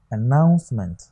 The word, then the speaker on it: announcement: This is announcement. This is on stress. The stress is on what? Second syllable here.